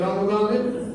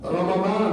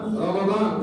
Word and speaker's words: রমাদান: 2 নম্বর, এই রমজানের উচ্চারণের বিষয়ে একটা আমি কোরআন শিরোষক এটা একটা কথা বলবো। এটা রমাদান মিমের উপর জবর, আবুল সাহেবরা ওলামায়ে কেরাম জানেন মিমের উপর জবর, আল্লাহ শহরে রমাদান, রমজান না রমাদান।